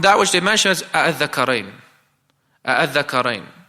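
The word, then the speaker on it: آلذكرين: They pronounce in a way where it's tasheel. They made it easy for them to articulate with both hamzas. Instead, a'adh-dhakarain, a'adh-dhakarain. They'll pronounce it like that. You hear both of the hamzas, but it is made lighter.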